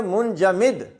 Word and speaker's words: منجمد: حرف کے نیچے زیر۔ ایک لفظ ہے منجمد، اب یہ 5 حرفی ہے اور من سے شروع ہو رہا ہے اور تیسرا حرف جیم ہے، لہذا اس کا تلفظ 100% منجمد ہوگا، منفعل کے وزن پر، منقطع۔ اسی طرح منسلک، مندمل، منحصر، یہ اس طرح کے تمام الفاظ میں چوتھا حرف جو ہوگا اس کے نیچے زیر ہوگی۔ اگلا لفظ دیکھیں جی،